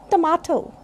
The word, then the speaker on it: tomato: Generally we say tomato, but this is tomato. A sound is there. This is the weakest sound symbol.